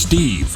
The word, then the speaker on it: LQRMPHZ: No, it's pronounced Steve.